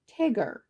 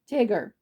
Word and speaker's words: Tigger: That's spelled T-I double Gur. Tigger. Double G-er. Tigger.